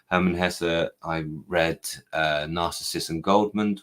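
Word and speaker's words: Hermann Hesse: on my Herman Hessa um thank you for the instruction on how to pronounce that from the audience Herman Hessa I read narcissist and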